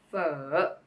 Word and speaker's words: Phở: put everything's together then we got first a consonant so well with the vowel oh and adding the turn is oh oh oh very good I hope now you can all pronounce for correctly and if you